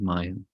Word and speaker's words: maya: of you know what maya means it's two syllables not this it's